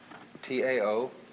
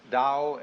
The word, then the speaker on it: Tao: T AO pronounced dao in the Mandarin dialect, tao in the Shanghai dialect, toe in the Cantonese dialect.